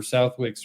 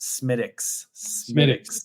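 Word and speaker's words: Smithwick's: important question of the day: Guinness, Harp, or Southwick's Red? And it's a Harp for me. So just to correct you, that is pronounced Smittix.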